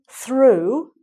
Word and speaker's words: threw: So the first one, the boy threw the ball through the window. Okay, so he must have broken the window doing that. The boy threw the ball through the window. Same pronunciation, different spelling.